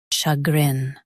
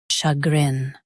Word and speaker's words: chagrin: chagrin Both US and UK have the same pronunciation of this word. chagrin Now read the syllables shown on the screen naturally. sha grin chagrin Emphasize grin and keep sha soft.